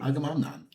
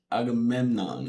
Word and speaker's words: Agamemnon: No, you still said it wrong. Agamnan. Agamemnon. Aamenan. There you go.